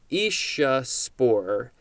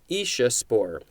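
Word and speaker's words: aeciospore: an abbreviation for atomic energy commission next is isha spore isha spore a e c i o s p o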